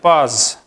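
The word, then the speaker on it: poise: इसको लिखा जाता है पाइज, लेकिन इसको बोलते हैं, प्रोनाउंस करते हैं पाज.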